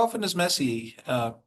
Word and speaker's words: Messi: How often does Messi uh how do you pronounce it? Messi or messier? Messi. Messi. How often does he get a is he successful with a shot on goal?